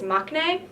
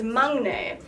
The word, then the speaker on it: 막내: know it it most people crown said its maknae that is wrong it is not not like